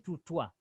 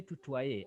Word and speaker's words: tutoyer: Remember I told you why is letter E, and remember the combination of O E as wa. Okay, and Yes. because of the R, letter E is pronounced. So we say tutoyer and vous voyez.